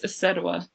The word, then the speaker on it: Isedua: My name is Isedua. I'm so glad I asked. I knew I was probably saying it wrong. Isedua.